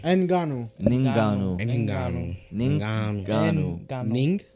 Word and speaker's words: Ngannou: Oh, the N is silent, or is it N silent? I think it's It's Ngannou. Ninganu.